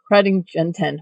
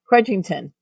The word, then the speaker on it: Crudgington: please welcome to the show show Dr Angela kingon why am I saying your name wrong crudgington change your name no just kidding Dr C